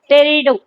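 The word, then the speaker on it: टेरिडोफाइटा: Thallophyta, bryophyta, Pteridophyta, Pteridophyta, टेरिडो, इसमें P silent है।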